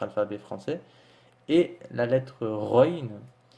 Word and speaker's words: غين: et la lettre ruines qui s'écrit phonétiquement g h et qui correspond entre guillemets ou un air de notre alphabet en fait c'est un air mais beaucoup plus prononcée donc vous vous imaginez lorsque vous dites le r et ben vous vous appuyer un peu plus voilà vous prononcer un peu ça soit un peu plus prononcée donc run présente avec